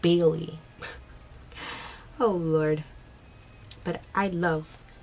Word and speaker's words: Bailey: I love Billy's. Why do I keep saying Billy? Every time I try to say her name, I always say Billy instead of Bailey.